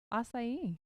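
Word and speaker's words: açaí: confirmation in my life assai right is that how you say it I I don't know I'm the wrong person Lindsay says you're right so they literally take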